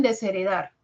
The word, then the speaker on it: desheredar: inalar lo mismo en desheredar la H no suena en desheredar no decimos voy a desheredar